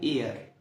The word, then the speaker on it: er: بنقول اير، بعد كده اير.